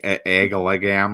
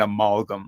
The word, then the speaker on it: amalgam: I mean, I'd probably say that incorrectly. I put the wrong emphasis on the wrong syllable. Yeah, I was like agalagam or something like that when I was younger. It was a very Minnesota way of saying amalgam, right?